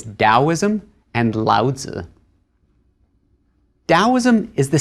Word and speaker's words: Daoism: There are two romaniz romanization systems for Chinese. So in older books, you may have seen daoism spelled with a t at the beginning. In newer books, you'll see it with a d. Similarly, laza used to be spelled with a tzu at the end and now it's a zi at the end.